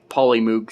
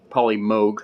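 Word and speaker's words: Polymoog: Well, it is spelled with two O's, but it's pronounced with a long O sound.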